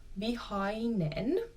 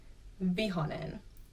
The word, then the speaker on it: vihainen: I in the word, vihainen. But in everyday speaking, I feel like most people kind of drop saying the I.